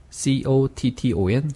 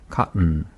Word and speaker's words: cotton: C-O-T-T-O-N, cotton 이렇게 하면 튼 이렇게 혀가 떨어졌다 붙은 경우예요. 근데 떨어뜨리지 않으면 cotton, cut 이렇게 붙은 상태에서 코스를 내버리니까 cotton 네. 이렇게 내버리는 겁니다.